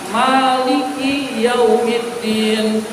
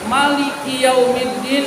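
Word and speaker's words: مَالِكِ يَوْمِ الدِّينِ: Alfatihah boleh Maliki yaumiddin. Boleh Maliki yaumiddin. Nah, kita mazhab mazhab Syafi'i menggunakannya maknya panjang. Al-Fatihah. Maliki yaumiddin. Kalau ada yang baca Maliki yaumiddin itu boleh ibu sekalian.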